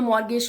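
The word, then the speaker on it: mortgage: मॉर्गेज loan क्या होता है, या मॉर्गेज लोन बोलते हैं इसको, टी को कभी कभी साइलेंट भी रखते हैं।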